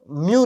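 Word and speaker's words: mu: ये जो U है ना, इसको एक्चुअली में हम म्यू रिप्रेजेंट करते हैं, म्यू बोलते हैं, इसकी प्रोनाउंसिएशन है म्यू। क्या बोलते हैं? म्यू।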